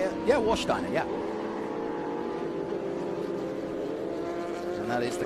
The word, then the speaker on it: Warsteiner: Here's the Warsteiner. And Castrol. Is that how you say it? Yeah, Warsteiner, yeah.